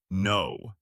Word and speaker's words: know: The word is no. K N O W. You say no. The K is silent. The W is also silent at the end. So the word no sounds exactly like the word no.